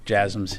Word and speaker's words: JASSMs: There's been some reports about JASSMs, if I'm pronouncing that correctly. The last question, yes, JASSMs. Yeah, you're pronouncing it correctly.